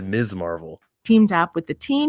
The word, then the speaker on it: Ms. Marvel: Did they just pronounce Ms. Marvel's name properly? They didn't say Miss Marvel. They said Ms. Marvel.